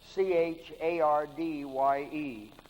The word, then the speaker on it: Chardye: Well, if you did your homework, you'd realize the name's been Americanized from the old Aztec spelling, Chardye. Pronounced Chardy.